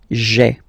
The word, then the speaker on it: j'ai: away, okay, so that you get this sound j'ai, j'ai, okay. So j apostrophe ai. Remember, when you combine this a-i, you get the e sound, okay?